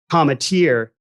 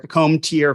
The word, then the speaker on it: Cometeer: our goals is that people properly pronounce not only cometeer but uh where we make the product which is Gloucester Massachusetts we hear comb tier from Gloucester uh all the time as you can imagine